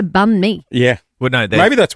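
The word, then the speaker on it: bánh mì: But it's not a barn me. It's a bunme.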